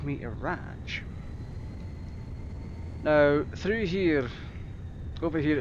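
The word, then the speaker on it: Radge: They went and called me Araj. Now, through here, over here, it's spelled as R-A-D-G-E. It's like rage with a D in it.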